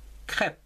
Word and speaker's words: crêpes: plusieurs choses comme ici crêpes c'est un e accent circonflexe craie pes en deux syllabes je vous rappelle qu'ici le s on ne le prononce pas il s'agit de plusieurs